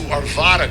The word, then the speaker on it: Arvada: a resident adjacent to Arvada Colorado let me say the second a is pronounced like it is in hat second let me be